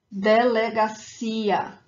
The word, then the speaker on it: delegacia: So for these words that end in ia, when they do not have a graphic accent elsewhere on the word, the emphasis, the stronger syllable is the last one, is that ia at the end.